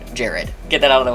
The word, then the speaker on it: Gerard: Many other characters do say his name as Gerard. It's spelled Gerard. It's only John that says Gerard like this, and as he's reading the statements to us, it is pronounced like Jared.